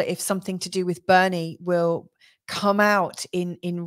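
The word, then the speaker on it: Boerne: that there are like there is a place in Texas called Bernie it's spelled completely differently b o e r n e I believe um so and so again even though it's not spelled the same way if it's got the same sound I still think that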